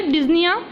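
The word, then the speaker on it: dyspnea: हम डिजिया कहते हैं क्लियर डिजिया इसमें पी साइलेंट रहता है इसको हम डिजनी ही पढ़ते हैं ठीक है नेक्स्ट देखना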